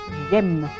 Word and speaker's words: j'aime: Ini kalau huruf e bertemu dengan voyel ya, jadi dengan vokal ketemu, maka e-nya melebur diganti apostrof. Bacanya langsung jem, jem.